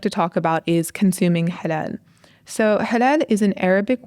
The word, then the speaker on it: halal: Now, in general, a food is considered halal unless it's specifically prohibited by the Quran. And many of us will mispronounce it, obviously, and call it hilal. Hilal, yeah, it's halal, Halal.